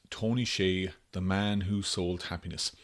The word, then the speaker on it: Hsieh: Well, Tony Hsieh, now it's actually spelled Hsieh but pronounced Hsieh.